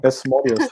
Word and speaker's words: Asmodeus: But it's spelled like Asmodeus. That's how you actually say it.